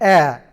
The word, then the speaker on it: heir: an honest man, an heir. It will be noticed that the words hour, honest, heir begin with a vowel sound, as the initial consonant h is not pronounced.